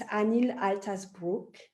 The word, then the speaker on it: Anil Altas Brug: And it's Anil Altas Brug. Is that right, how I pronounced it?